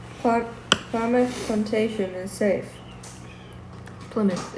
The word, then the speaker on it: Plymouth: Plymouth. You want to say it again now? Yeah, Plymouth. No, Plymouth. Plymouth. Ply your Just imagine teeth in the mouth. I. There's an I where the Y is.